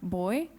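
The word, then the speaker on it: бои: it can be like boy, but in Macedonian, boy means colors.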